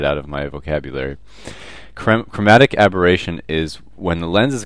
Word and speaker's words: aberration: no chromatic aberration and I pronounced this incorrectly in the last video so um let me take this chance to say it's chromatic aberration and I'm so used to saying abrasion that I can't get it